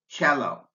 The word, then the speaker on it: cello: an SH Chopin but the C in cello is pronounced like a CH sound cello the TI in sensational